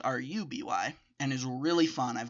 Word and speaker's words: RWBY: Just like RWBY spelled RWBY is pronounced RUBY, and is really fun.